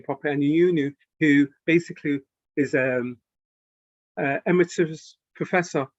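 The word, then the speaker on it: Anionwu: Cystic fibrosis, a paper that came out from Dame Elizabeth Aniunu, and pronounce her name properly, Aniunu, who basically is emeritus professor from Sickle Cell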